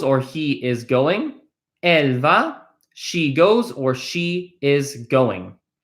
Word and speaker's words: vas: speaking, actually almost always, final consonants in French are silent, so we do not pronounce this S. It is just ve. Okay? Tu vas either means you go or you are going. Tu vas, you go, or you are going.